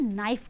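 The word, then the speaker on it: knife: तो चाकू को इंग्लिश में हम नाइफ कहते हैं। ठीक है? क्या कहते हैं? नाइफ कहते हैं। इसमें के का उच्चारण नहीं होता है। के साइलेंट हो जाता है। इसीलिए इसे हम नाइफ पढ़ते हैं।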